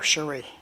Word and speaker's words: Shiri: How would you pronounce Shiri? Shiri? Shiri? I don't. Cherie. Shiri. Yeah. It's a singer, Cherie.